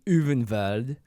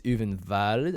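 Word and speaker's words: Ulvenwald: If it's German, it's Uvenwald, I think, because the W's are V's. Or maybe the V's are W's.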